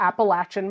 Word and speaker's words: Appalachia: Appalachian Mountains M and when I first moved down there I was calling them the Appalachian Mountains they do not like that no it's Appalachia it is Appalachia and I had a hard time for a very long time remembering to say Appalachia and W I tricked